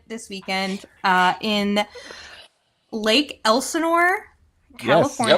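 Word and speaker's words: Elsinore: a wonderful event this weekend uh in Lake Elenor California y nailed it yes thank you I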